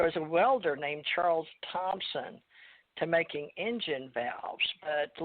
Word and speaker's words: Thompson: Thompson, not Tompkins, but Thompson. Yeah. Yeah, Thompson with a P.